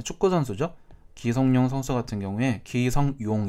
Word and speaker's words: 기성용: 기성용 선수 같은 경우에 기성용 이렇게 발음하는 사람도 있는가 하면 니은을 첨가시켜서 기성용 이렇게 발음하는 사람도 있습니다.